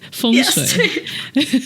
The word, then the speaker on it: feng shui: Feng shui.